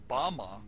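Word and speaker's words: בָּמָה: which Satan fell is Strong's Hebrew word 1116 pronounced Bama is most commonly used to refer to a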